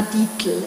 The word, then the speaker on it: Dietl: The actual author is Clara Dietl.